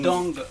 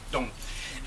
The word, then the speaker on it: N'Dongo: On est très heureux de recevoir Ndongo. Ndongo, on dit Dong. Tu ne prononces ni le N ni le O. Ndongo. Dong.